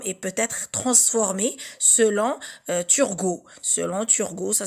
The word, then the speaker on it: Turgot: Ils peuvent être produits, élaborés, et la langue se transforme et peut être transformée selon Turgot. Selon Turgot, ça s'écrit avec T-U-R-G-O-T.